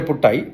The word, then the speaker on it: Putu: double T അടിച്ചാൽ മലയാളത്തിലെ പുട്ടായി ഒരു ടി മാത്രം പി യു ടിയു എന്നാണെങ്കിൽ പുടു എന്നാ പറയുക അത് സിൻഹളയിലും തമിഴിലും അങ്ങനെയാണ്